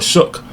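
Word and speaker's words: Shough: And reportingly they are starting uh Tyler Shook against the uh against the Rams against the Rams this week.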